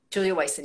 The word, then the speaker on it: Julia Wyson: Is it Julia Wyson? Julia Wyson, yes. Wyson, okay. Yeah, so I've got the pronunciation right.